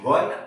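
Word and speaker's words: one: ही is dash वन eyed man. Okay, तो ये जो ओ है ना वो इंग्लिश का स्वर है, लेकिन इसको हम वन बोलेंगे।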